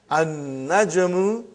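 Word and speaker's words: النجم: An-najmu ba'idun. You did not pronounce lam.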